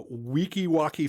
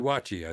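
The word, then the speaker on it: Weeki Wachee: She's originally from uh Wikiwocki, Florida. I guess that's I don't know. I think that's how you pronounce it. Wikiwatchi. Wikiwatchi. Oh, okay. Wikiwatchi, Florida.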